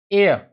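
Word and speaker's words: air: आर का pronunciation नहीं होगा, जब आर आर जो होता है आई के बाद वोवेल के बाद एंड में आता है तो उसका प्रोनाउंसिएशन नहीं होता है।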